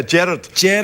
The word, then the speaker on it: Gerard: do that accent and we do the opposite in Scotland it's Gerard it's like the it's yeah gered it's the emphasis on the first part but here in America it's Gerard and it goes Gerard y